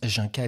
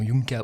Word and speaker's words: Jinka: fort jinkka je précise ça se prononce Jinka et pas nom yunka ou junka parce que on déjà